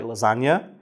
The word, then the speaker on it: lasagna: But lasagna has a silent G in it. Lasagna has a G that's silent, so it makes perfect sense.